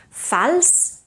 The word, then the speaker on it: fals: Fals is pronounced with an S, but fals associat is pronounced with a Z, voiced Z.